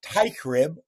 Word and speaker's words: Teichrib: my right and uh joined today by TYB am I pronouncing that correctly I'm trying to use my